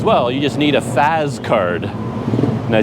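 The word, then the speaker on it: Fazz: And they says, well, you just need a Faz card. And I says, well, what the heck is a Faz card? They pronounced it Fash, but it's F-A-Z-Z.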